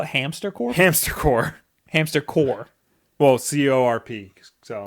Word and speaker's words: Hamster Corp: So the P is always silent? The P is silent.